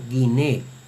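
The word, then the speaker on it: γυνή: Con relación a la gamma, en la pronunciación erasmiana siempre tiene la gamma el valor de la g española como en gato. Siempre. No importa la vocal que le siga. Por ejemplo, esta palabra en la pronunciación que es mujer se leería guiné.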